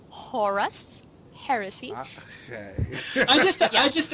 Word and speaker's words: Horus: faq what do I I heard you pronounce it as the horse heresy oh no no horus heresy I just I